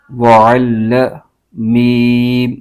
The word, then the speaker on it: وَعَلَّمَ: ہجے یوں کریں گے، واو زبر و، عین لام زبر عل، وعل لام زبر ل، وعل میم زبر م، وعلم۔ تو یہاں پر یہ